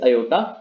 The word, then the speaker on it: aorta: अयोटा आपका एक बहुत ब्लड वेसल है, and this aorta, this is AORTA, this is aorta, pronunciation is aorta.